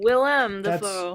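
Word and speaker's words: Willem: what oh oh no I've been reading his name wrong this whole time Willam that's still not as bad as me saying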